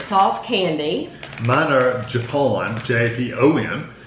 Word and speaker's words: Japon: Mine are Japon, J-A-P-O-N. Not Japan, Japon.